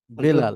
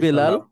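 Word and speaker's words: بلال: নাম উনার বলেন তো বেলাল বেলাল আচ্ছা আমরা বলি বেলাল যদি আমরা আরবিতে বলি তাহলে বিলাল কি হবে স্যার যদি আরবিতে বিলাল হযরত বিলাল হ্যাঁ অর্থাৎ আরবিতে বেটা হয় না জি তো বি তো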